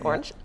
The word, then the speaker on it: Oranj: Well, first people always say orange which makes us sound so much fancier. Um but it's orange.